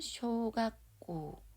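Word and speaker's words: 小学校: 이 작을 소자가 쇼로 읽히는 거고 원래는 배울 학자가 가꾸로 읽히는데 뒤에 꼬를 만나게 돼서 이게 초금으로 바뀌었어요. 그래서 가꾸꼬가 아닌 가꼬가 됩니다. 학교 교자는 꼬로 읽거든요. 그래서 학교만 얘기할 때는 가꼬 앞에 소자가 붙으면 쇼가꼬 이게 초등학교라는 의미이고 중간에 또 노가 왔죠.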